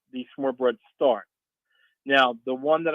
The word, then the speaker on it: smørrebrød: I'll spell it first. It's SMORRE and then BROD. I think it's pronounced smørrebrød.